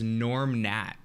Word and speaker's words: Gnorm Gnat: lovable character known as Norm Nat. You guys have probably never seen this, but Norm Nat, like a insect. Yeah, you guys can look it up. It's Gnorm Gnat. It's spelled with G's.